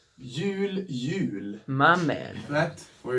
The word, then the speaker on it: jul: is pronounced Jul, Jul.